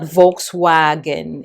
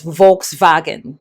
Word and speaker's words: Volkswagen: I do know that their W is pronounced as a V. That's why when you say V the the car name or the car brand Volkswagen. It's not Volkswagen. It's Volkswagen.